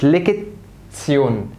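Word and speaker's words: Lektion: طيب رقم 7، الاربع حروف دول هنطقهم تسيون. هنطقهم ايه؟ تسيون، زي كلمه ليكت تسيون، ليكت تسيون، اي ليك تسيون، ليك تسيون، ليك تسيون. نا تسيون، نا تسيون.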